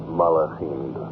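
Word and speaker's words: מלאכים: Gedushim, the holy ones, and how do you pronounce it? Malachim.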